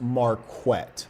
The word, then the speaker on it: Marquett: And lastly, my name is pronounced Marquette.